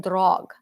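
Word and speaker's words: draugr: other like Duo and drog so we see Duo that's your evil and then drog d r a u g r R the r is silent D and I really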